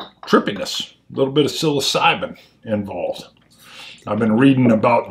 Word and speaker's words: psilocybin: smoking cessation in the psilocybin world interesting not saying it's connected just saying stranger and stranger psilocybin it starts with a ps it sure does silent p um wow boy even